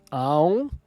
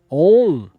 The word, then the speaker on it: Om: Em inglês, Aum às vezes é escrito com 2 letras na forma de Om, porque o inglês é um ditongo e porque a maioria das pessoas, ao ler Aum, pronuncia o A longo como na palavra car. Esse A longo é um erro. Om é a pronúncia correta.